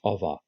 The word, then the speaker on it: over: prepositions on above and over british pronounced ova anyway let's move on